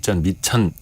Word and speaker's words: 밑천: 근데 그걸 발음하면 밑전, 미천 예.